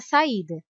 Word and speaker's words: saída: Se o som do I fosse mais fraco e mais rápido, seria saída, mas não é saída, é saída. ida. Pronunciamos o som do i com clareza, em alto e bom som.